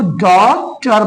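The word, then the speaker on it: daughter: जी एच टी आर इसमें देखो डॉटर में जी एच साइलेंट होता है। इसीलिए इसको डॉटर पढ़ते हैं।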